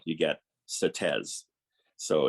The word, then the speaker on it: Sauteurs: you get instead of soto you get certes so it's really lament for the souls of certain that's how it's pronounced in grenada um and uh yeah